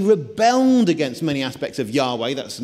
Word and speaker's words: Yahweh: against many aspects of Yahweh. That's the name for the Jewish God, at least according to many people. That's the correct pronunciation of the name that you're not supposed to pronounce.